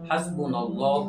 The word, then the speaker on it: হাসবুনাল্লাহু: তো দেখেন, দোয়াটার সঠিক উচ্চারণ হলো হাসবুনাল্লাহু ওয়া নি'মাল ওয়াকিল, নি'মাল মাওলা ওয়া নি'মান নাসির।